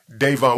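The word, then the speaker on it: Dayvon: King Von before King Von because how you pronounce his first name is yeah Devon what was the nickname did you have a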